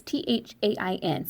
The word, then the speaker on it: Thain: Try to tell me how to actually pronounce it. It's Thain.